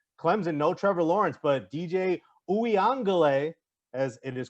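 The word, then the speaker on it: DJ Uiagalelei: and notre dame clemson no trevor lawrence but dj ouiangele as it is correctly pronounced he's been good he had a great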